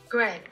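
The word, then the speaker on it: Greig: A pronunciation video of G-R-E-I-G? Go on, then. Greg.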